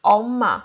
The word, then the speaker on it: 엄마: But here it's 엄마. We read only the vowel, not circle. But we have to read it because we begin our syllable, and we have to show that the first letter is vowel.